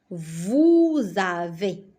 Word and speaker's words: vous avez: Vous avez. Donc, comme ça, je prononce vous avez.